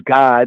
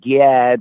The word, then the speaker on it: Gad: vinay god you know we say as god it's not like god because that's how it said in the hebrew god the english pronunciation's gad is gyad but really that's a weird vowel right there but it's god right the children of